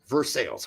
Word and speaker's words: Versailles: But they pronounce it Versales.